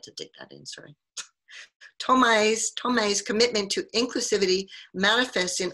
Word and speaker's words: Thomai: Thomai.